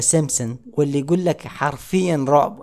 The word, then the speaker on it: Simpsons: تنبؤات مسلسل The Simpsons، طبعا الباء لا تلفظ في The Simpsons، واللي يقول لك حرفيا رعب.